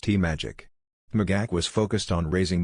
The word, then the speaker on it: TMAGAC: America Great Again Committee, internally referred to by its acronym TMAGAC, which RNC officials pronounced TMAGAC.